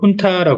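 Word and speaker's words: junta: 꼭 해 주시면 좋은게 훈타 이게 어 발음이 준타 아니고요 훈타 하죠 어 저쪽 그음 중남미 그 그쪽 계통에서 온 어 단어로 그 지금 이게 이제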